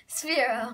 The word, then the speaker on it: Sphero: Sphero. Sphero. Yeah. Sphero. It's like S-F-E-R-O.